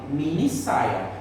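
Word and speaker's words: minissaia: Então por isso que tem essa duplicação. Para que a gente fale mini saia. Então a pronúncia da palavra continue a mesma.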